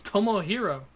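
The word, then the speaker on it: Tomohiro: Davis versus Hiroshi tanahashi Tomah hero isi and Leo Rush I'm pretty sure that's pretty sure that's the main event it's not hard it's Tomo hero I've never mispronounced it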